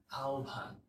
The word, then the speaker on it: আহ্বান: ভেবে উচ্চারিত হয় সো এই যে আহ্বান বলে না অনেকে অনেকে দেখবে যে আহ্বান আহ্বান করেছেন অথবা আহ্বান বলে এটা শুদ্ধ না এটার শুদ্ধ উচ্চারণ হচ্ছে আহ্বান তো এরকম আরেকটা শব্দ